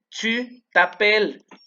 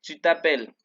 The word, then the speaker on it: tu t'appelles: Tu t'appelles. No se pronuncian estas tres letras. Tu t'appelles.